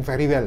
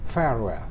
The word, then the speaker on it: farewell: Bacanya jangan very well ya, tapi farewell ya.